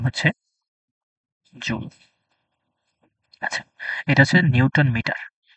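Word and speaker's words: joule: এটার উচ্চারণ হচ্ছে জুল।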